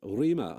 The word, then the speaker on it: Rima: now um of your long-term partner Rema am I pronouncing rema's name correctly you are what what